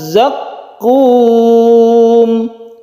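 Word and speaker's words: زقوم: Kita perlu hati-hati di ayat yang 43 ini, yaitu ada tasydid, dan dua tasydid ini harus kita tekan hurufnya antara za dan qaf. Syajarataz zaqqum. Zaqqum. Jadi seperti itu cara membacanya.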